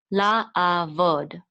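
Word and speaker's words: לַעֲבֹד: So we're going to say vod. La, a, vod.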